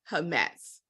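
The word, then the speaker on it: חמץ: So that's the word, but it's pronounced hametz.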